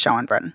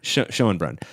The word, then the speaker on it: Schoenbrun: It's very clear that that Jane Schoenbrunn, how do you pronounce the last name? I am unsure, but I think it's Schoenbrunn. Schoenbrunn. But do not take my word for it.